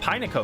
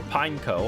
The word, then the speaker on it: Pineco: We got Pino next. Or Pineco. I've heard it pronounced both ways.